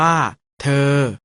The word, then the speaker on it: เธอ: ประสม กับ สระ เออ สะกด ว่า ธอ เออ อ่าน ว่า เธอ เรอ คำ ว่า เรอ